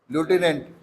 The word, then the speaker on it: lieutenant: And how is pronounced? Lieutenant.